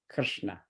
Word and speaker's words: Krishna: out in good transliteration the word Krishna is K r dot s dot n dot a Krishna Krishna Krishna but we'll say Krishna to make it easier all right so